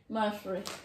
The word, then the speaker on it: Mathri: How do you pronounce it, Preston? Mathri.